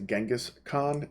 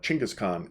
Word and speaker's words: Genghis Khan: Now, a lot of times you're going to hear him pronounced as Genghis Khan, and if you do that, I'm going to forgive you. But Genghis Khan is really a more proper way of pronouncing his name.